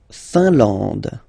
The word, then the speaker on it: Finlande: La Finlande. IN here, nasal, un. AN, nasal, en. And then D, final not pronounced.